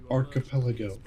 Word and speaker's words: archipelago: you pronounce it it's archipo archipo I was like archipelago he goes no it's archipo Arch maybe it's archipelago I was like dud it's archipelago and he goes let